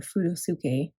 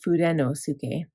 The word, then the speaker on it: Fudenosuke: probably saying it wrong I know other people say food food or something but I like to pronounce the N I don't know why food food yeah people say or furosuke instead of fudenosuke but tombow now has